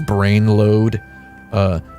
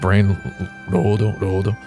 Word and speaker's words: Brainlord: Brainlord, also known to me as Brainload, because the R looks like an A, and also that's just how it's spelled in katakana. It's just Brainlord.